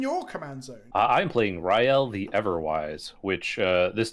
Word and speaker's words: Rielle: for gizla and then you pronounce riel as ryle so rael yeah yeah but i